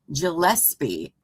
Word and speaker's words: Gillespie: Thank you, Gillespie. Thank you. With a hard G and Marrain Marachini.